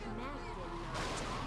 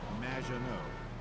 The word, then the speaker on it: Maginot: Mackinot, welcome to the show. Thanks, Amy. However, you have mispronounced my name. which rhymes with badge. As in duh, and no as in more than you. Maginot.